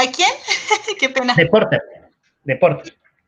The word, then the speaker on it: Porter: De Porter. Así como se escribe, P-O-T-R-E. Porter, de Porter.